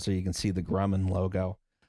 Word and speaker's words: Grumman: you can see the Grumman logo. Just say it like a Swedish death metal band.